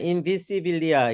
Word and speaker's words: invisibilia: 예, 자, 읽으실 때 인비시빌리아 이게 S를 스 발음으로 정확하게 읽어주시고, 예.